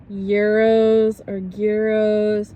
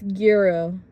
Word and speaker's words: gyro: and they were like, it's gyro, not gyro.